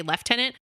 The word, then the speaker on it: lieutenant: and I saw that the English take the spelling of the old French which is LF tenant it's the same word but it's spelled differently and that's why they say left tenant also because they thought